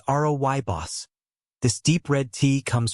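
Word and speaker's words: rooibos: One, Royos tea. Pronounced Robos.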